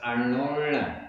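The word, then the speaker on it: अण्णोण्ण: गाथा का उच्चारण तो एकदम सरल है, बस अर्णोर्ण इसमें दो बार णा जो आया है उसका उच्चारण थोड़ा सा ठीक कर देंगे तो पूरा सही हो जाएगा।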